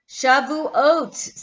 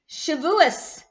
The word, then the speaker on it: Shavuot: days nine days away it is Shavuot shabu oats some of you pronounce this Shavuos which is kind of the Yiddish expression or sha loo oats so I want to